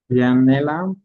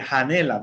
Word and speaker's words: janela: No vayan a confundir o pronunciar como la J en español. No vamos a decir Janela, no, nada que ver. Que tiene que pronunciar como y janela. Janela.